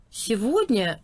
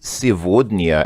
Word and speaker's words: сегодня: Notice she says сегодня and not сегодня. It's kind of I'm not sure if that's just a particular dialect or pronunciation, because I'm pretty sure this is usually сегодня, because it uses the Russian G, but it may be one of those cases where sometimes the G is kind of pronounced like a V, because I'm pretty sure